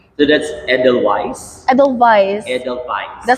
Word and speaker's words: Edelweiss: Edelweiss. Edelweiss. It's really unique. Because yeah, as you've said, W. Yeah, but the pronunciation is V.